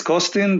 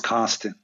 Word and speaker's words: Costin: In Romanian, it's Costin, but in English, it's Costin.